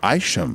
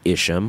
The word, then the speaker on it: Isham: I heard it today Lars pronounced at ICM Isham we've been saying ischium mission so Wayne I want